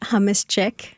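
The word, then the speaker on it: hummus: Java, you own a business in Nashville, Hamuschic, or do you pronounce it humus? Uh, up to you. It is humus.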